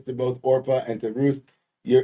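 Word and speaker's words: Orpah: named uh two women one named orpa which was Oprah's original name but nobody can pronounce it so it's Ora not Oprah Ora and Ru they uh there's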